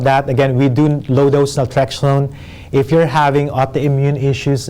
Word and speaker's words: naltrexone: that right is that how you say it naltrexone naltrexone yes so again i mean if you low